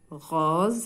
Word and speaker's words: rose: Aidan, rose, hna ara s wa antaq z. Limada? Li'annaha bayn deux voyelles, le o et le e.